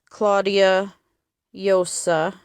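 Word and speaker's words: Claudia Llosa: Spanish uh director named Claudia Yosa. I think that's how you pronounce it. It's double L, so I'm not sure. It is Spanish, but I I was taught Mexican Spanish, so please forgive me if I was incorrect with that pronunciation.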